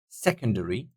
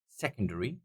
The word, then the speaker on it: secondary: syllable is pronounced louder secondary secondary that would be the first secondary Athletics Athletics second syllable